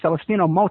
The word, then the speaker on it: Celestino Mota: and he's from Mexico and his name is Celestino Mo. Am I pronouncing that right?